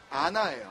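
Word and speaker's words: ענה: 첫 번째, 먼저 145절에 부르짖었사오니로 번역된 이 히브리 동사는요, 아나예요. 아나. 굳이 영어 스펠링으로 하자면 ANA.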